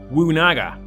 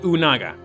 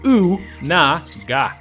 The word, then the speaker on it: Unaga: The wiki believes it to be 'Wunaga' but whoever wrote this article has lost the plot. It's clearly 'Unaga', probably spelt the same but without the W. Pronounced OO-NA-GA.